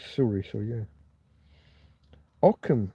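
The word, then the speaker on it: Ockham: Okam and his razor. Aam's razor. It's not spelled like that, is it?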